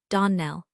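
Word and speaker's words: Donnell: Donell, accent on the last syllable, and St.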